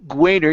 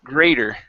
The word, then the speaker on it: greater: greater uh up here give me a good gr instead of Goo Gater you used a guu sound saying goo greater instead of Greater it's g g greater greater good job one